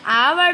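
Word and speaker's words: hour: It makes me एन आवर to complete the worksheet. तो यहाँ पर एच है हमारा कॉन्सोनेंट, लेकिन आवर हम एच को साइलेंट रख रहे हैं, ऊपर जा रहा है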